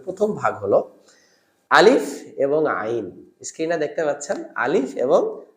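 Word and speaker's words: عين: হলো কণ্ঠনালীর মাঝখান মাঝখান মাখরাজটা হলো কণ্ঠনালীর মধ্যখান নরম করে চাপ দিবেন এবং এডভান্স লেভেলের যদি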